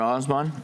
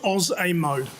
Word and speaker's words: Osmo: Osmond, did I get that right? Close, 3 syllables, Oz-A-Mo. Like the Wizard of Oz, Oz-A-Mo.